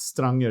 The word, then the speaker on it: Stranger: Er, but it's pronounced Stranger. It's a Norwegian name, but he also, you know, Simon Stranger.